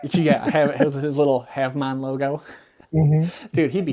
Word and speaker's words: Havemon: You're going to say Havmon." And I was like, "Yeah." He goes, "Spell it."